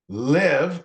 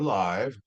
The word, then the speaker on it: live: So O, as in later, learn, leave, left, like, listen, live or live. Live is a verb, whereas live is an adjective.